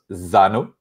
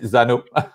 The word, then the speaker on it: Xano: and and we web in French we we we pronounce but but I know that prash pronounce Zano the good one is probably Zano but French is French